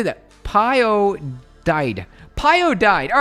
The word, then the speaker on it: Pyodide: PyDid. Wait, how do you say that? Pyodide. Pyodide.